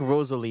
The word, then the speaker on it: Rosalie: I think Rosalie is the right way to say that. Like Natalie, right? I see.